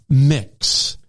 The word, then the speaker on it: Mx: neutral pronoun for these circumstances is MX uh pronounced mix example that's Mrs Smith Mr Green and mix